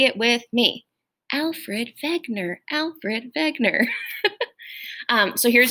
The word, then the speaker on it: Wegener: looks like w-e-g but it's actually pronounced ve wegener so say it with me alfred wegener alfred wegener um so